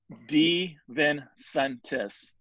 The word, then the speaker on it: DeVincentis: it okay it actually it's pronounced the way it's spelled okay so d vincentis you can break it